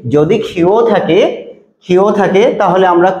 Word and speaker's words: ক্ষ: এটাকে মূলত আমরা যুক্তক্ষ বলে থাকি, ছোটবেলায় পড়ে এসেছি যুক্তক্ষ, কিন্তু আসলে সঠিক উচ্চারণ হচ্ছে ক্ষীয়, এটাকে বলা হয় ক্ষীয়। ঠিক আছে, ক্ষীয় এর উচ্চারণ সাধারণত ক এবং খ দিয়ে করতে হয়।